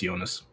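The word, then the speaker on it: Jonas: I just wanted to say it is pronounced Yonas.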